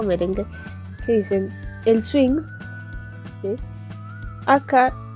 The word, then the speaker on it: 쉰: O por ejemplo cuando ustedes cantan alguna canción de salsa o merengue que dicen el swing, ¿sí? Acá lo decimos como swing. Y es una sola sílaba.